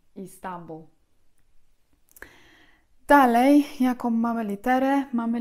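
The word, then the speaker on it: İstanbul: być z kropką, dlatego w języku tureckim Istanbul właśnie pisze się z kropką nad tym I pierwszym. Istanbul.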